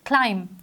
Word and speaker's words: climb: First word is climb. Climb जो है इसमें B silent letter है, इसको हम climb नहीं बोलते, इसको हम climb बोलते हैं।